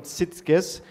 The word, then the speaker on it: Sitges: And we have also visitors coming tomorrow for 2 days from Sitges, that's pronounced right, the strong tournament up in Catalonia in Spain.